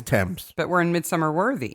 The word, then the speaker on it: Thames: it's something upon tim's is there an s on it yes okay so it's tim's but we're in mid-summer